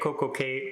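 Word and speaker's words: CocoCay: it but let's face it perfect day at CoCo K Rhymes it just kind of makes sense to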